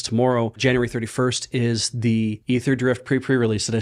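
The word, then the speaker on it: Aetherdrift: we're doing because tomorrow January 31st is The Ether drift pre- pre-release did I say it right yes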